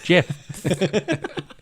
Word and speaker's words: Jeph: Is it Jeff with PH? Yeah. Jeph. My name's Jeff. Did you get that He from just him wants- saying it? Yeah, the way he said it, he's pronouncing Jeff.